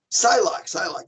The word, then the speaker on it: Psylocke: Psylocke.